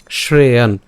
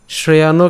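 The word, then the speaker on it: শ্রেয়ান্: উচ্চারণটা কেমন হচ্ছে শ্রেয়ান শ্রেয়ান শ্রেয়ানও কিন্তু উচ্চারণ করিনি কেন কারণ এখানে কি আছে একটা হস চিহ্ন আছে যার কারণ উচ্চারণটা কেমন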